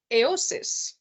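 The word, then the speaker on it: AOSIS: and then you had the iosis okay this is um supposed to rhyme with Oasis and Oasis now AIS this is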